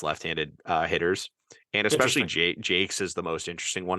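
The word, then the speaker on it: Jacques: uh Joe Jake's j-c-q-u-e-s they announced it apparently is pronounced Jake's from the pirate system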